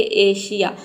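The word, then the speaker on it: Asia: इन दोनों लेटर में से कोई भी लेटर अगर आ जाता है तो यहां पे एस को हम श पढ़ते हैं। जैसे कि देखिए एशिया।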